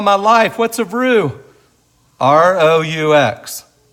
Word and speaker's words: roux: R-O-U-X. R-O-U-X it's pronounced roux, and it's really just a starter.